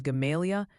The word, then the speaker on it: Gamaliel: Apparently, Gamaliel is Gamalia, and Marrowbone sounds more like Marrowbone.